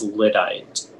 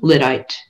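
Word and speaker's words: lyddite: the word one more time the word is lidite can you repeat the language of origin uh it's from an english geographical name plus another english part lidite l y d d i e e lidite that is correct uh and next up our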